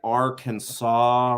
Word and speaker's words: Arkansas: believe there is an Arkansas River that is near where my wife's family is from and godamn they all say the AR Kansas River and it drives me